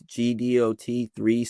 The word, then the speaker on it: Gdot3: The official like at, like where it says is like, it says at, and then it's Gdot3 spelled, but like GDOT. How I say spell it out, like it's spelled out, it's like GEEDEEOHTEE3.